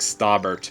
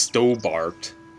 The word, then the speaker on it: Stobbart: it's really funny that his name is like staubert but it's pronounced stobart professor osterval the leading